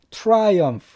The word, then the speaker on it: triumph: triumph. triumph. 그러니까 I만 집어넣고 P에다 H 붙이면은 PH는 보통 F 발음이 되죠. 그래서 triumph.